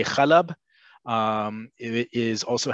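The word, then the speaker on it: حلب: In Hebrew, we say Halab.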